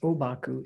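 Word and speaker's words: Ōbaku: the same and so the characters that are used to write the name huang po are pronounced those same characters are pronounced obaku in japanese which is why any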